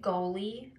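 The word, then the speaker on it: Goli: I got some new you're supposed to say goalie but I say golly cuz golly sounds better so I'm not pronouncing it right apparently but I got some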